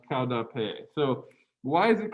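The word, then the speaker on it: Qaug dab peg: and you fall down the way you pronounce that in mung is cow dappe i think these last syllables go unpronounced so it's cloud pay and there's a did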